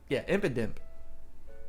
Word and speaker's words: Impidimp: And then this is the second Pokemon, Impidimp. Is that how you say its name? Yeah, Impidimp.